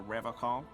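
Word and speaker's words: Revachol: But Someone has to stay strong for Revocol. His gaze shifts to the pile of soggy logs at his feet. He pronounces Revocol with a hard K, unlike other people.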